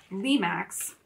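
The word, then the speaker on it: Lemax: that Michael's has um Lee Max that's how you say it uh where they do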